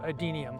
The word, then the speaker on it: Adenium: A lot of people call them desert roses, but I don't like that name, so just remember adenium. It's only 3 syllables, easy to learn.